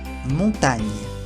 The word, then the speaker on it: montagne: Y el último tipo de pronunciación de la G es cuando está seguido de una N, se dice ñ, como la ñ en español. Ñ. La montagne, la montaña, la montaña.